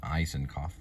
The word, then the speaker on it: Isakov: So, how they say his name is Gregory Allen Eisenoff.